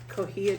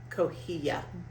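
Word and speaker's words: cotija: salad, and that is kohia cheese. C O T I J A. I pronounce I believe that's pronounced Coia.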